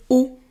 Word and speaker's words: eau: Water is eau. Le type eau. So it's not really intuitive for beginners that E-A-U is pronounced O.